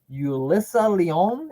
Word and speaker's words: Yulissa Leon: We got Dragon Lee, Nathan Frazier, Yulissa Leon.